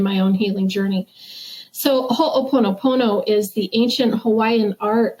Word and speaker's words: Ho'oponopono: Yes, it's Ho'oponopono.